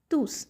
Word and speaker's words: tous: we pronounce it as tus that is the pronounced final s we pronounce the final s we say elontus la.